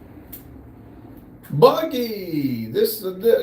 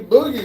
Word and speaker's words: Boogie: Buggy, Boogie, not Buggy. Boogie said hi.